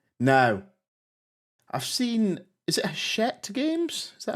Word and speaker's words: Hachette: Now, I've seen, is it Hachette Games? Is that how you say it, Rory? Hachette. Hachette, yeah, it's French company.